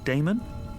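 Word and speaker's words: Daemon: says Professor a d-a-e-m-o-n how do you pronounce that Damon if you preferred and this address I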